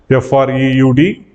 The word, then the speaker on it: Freud: German term Sigmund Freud f r e u d we need to pronounce that as Freud segment Freud so first